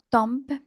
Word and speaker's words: temps: mon temp estce que vous ne prononce pas le P le le mot tom est un a aspirer nasal laadoré opérésente par exemple